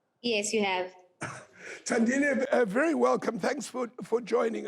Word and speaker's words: Thandile: My new guest is Thandile Chinyavanhu. Have I pronounced it correctly? Yes, you have. Thandile, very welcome.